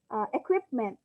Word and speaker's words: equipment: simply reading it normally for example equipment okay exaggerated equipment but i know that the stress is on where is it on the first second third syllable equipment anyone where is the stress equipment yes okay very good it's on the second syllable exaggerate you know that